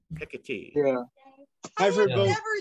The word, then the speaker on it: Hecate: say that today the proper pronunciation of the other name is hecatee pick a tea yeah I've never said